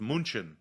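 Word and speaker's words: München: that are mispronounced by americans or english speakers munich is one of the biggest ones which i've never understood why we pronounce it the way that we do when it's actually pronounced munchin like that's why because we can't pronounce munchen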